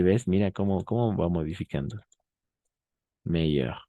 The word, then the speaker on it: meilleur: Meilleur, meilleur, meilleur, meilleur. Ahora sí, a nivel de pronunciación no hay mucha diferencia. Va a ser la misma. No hay diferencia, va a ser la misma siempre.